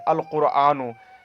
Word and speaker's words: القرآن: القرآن، یہاں پر کیا ہے؟ ہم لام کا تلفظ کر رہے ہیں لہٰذا قاف جو کس میں سے؟ حروف قمریہ میں سے ہے.